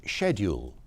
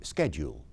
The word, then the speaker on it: schedule: coming in in pronunciation I say schedule all my kids say schedule that's happened in a generation that's an American pronunciation that's taken over and